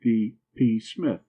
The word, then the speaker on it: Psmith: So I decided to adopt P Smith. The P I should add for your guidance is silent as in pieces psychic and Tom again.